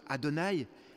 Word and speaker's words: Adonaï: qui suggère vous savez le fameux tétragramme ces quatre lettres imprononçable que dieu s'est donnée à lui-même lorsqu'il parlait à moïse dans le désert du sinaï karoui qui se prononce adonaï qui signifie le seigneur